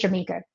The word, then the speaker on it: Jameeka: no, y'all gonna get Jameeka. That's what you're gonna get. You're Right. gonna pronounce it correctly because it's spelled phonetically, and we're gonna keep